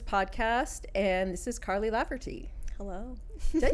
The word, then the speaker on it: Laverty: and This Is Karly laugherty hello did I say your name wrong no no Carly lty yeah like it's a v yes and the T I would say sounds more like a d lardy yeah okay mhm which